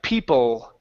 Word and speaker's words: people: You'll also find the same sound at the end of words like people.